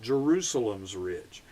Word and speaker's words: Jerusalem Ridge: out on Jerusalem Ridge and Bill always pronounced it Jerusalem's Ridge but the tune Jerusalem Ridge um has become so popular that people now refer to that as just Jerusalem Ridge uh which is where